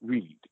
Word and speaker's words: Ried: um it's German and in German you always pronounce the second vowel so hence why Stein